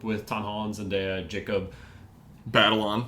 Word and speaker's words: Batalon: And then we have the main returning cast of the Tom Holland group with Tom Holland, Zendaya, Jacob Batalon. Not Battalion.